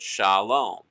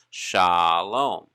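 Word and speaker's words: שלום: we look at shalom we see kamats commands and that is going to give us an ah sound so kamatsu is very important when it comes to understanding the long ah sound pronounced for the word shalom shalom so we see shalom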